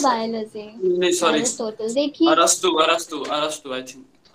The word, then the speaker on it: अरस्तु: देखिए अरस्तु, I think हाँ जब आप लिखते हो तो आप उसको एरिस्टोटल लिखते हो, बट उसका करेक्ट प्रोनाउंसिएशन अरस्तु होता है.